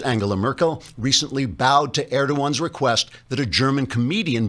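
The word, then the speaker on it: Erdoğan: merkel recently bowed to erdogan's request that a german comedian be prosecuted for insulting the turkish president personally i'd have told erdogan to add stuffed the g is silent trigger warning i'm andrew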